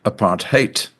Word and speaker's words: apartheid: Apart hate is an Africans word meaning separateness and it's pronounced apart hate which I think is rather noteworthy.